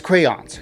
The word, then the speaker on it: crayons: Like I don't know where you pronounce it, but it's crayons.